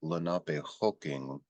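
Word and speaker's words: Lenapehoking: even though you hear laap hooking uh the suffix is i n k we don't pronounce that hard K on the end we don't say l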